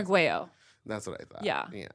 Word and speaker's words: Arguello: Arguello. That's what I thought. Yeah. Yeah. Yeah. But And a lot of people do hit that hard L, don't they?